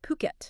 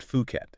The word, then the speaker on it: Phuket: It's pronounced Phuket. Yeah, Phuket, not Fuket.